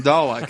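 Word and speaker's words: Dalek: is no R in dollak as you pointed out the sound of the south of England has what is called a long a sound the north has a short a sound although I live in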